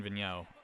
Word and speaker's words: Vigneault: First of all, I really liked Vigneault. Is that how it's pronounced? Yeah, Alain Vigneault.